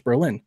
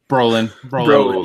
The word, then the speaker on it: Brolin: because I recognize the voice voiced by Josh Berlin I'm a big Josh Berlin fan at that